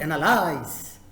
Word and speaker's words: analyze: The first word, the verb analyze. It's not analyze. It's not analyze. No, it's analyze.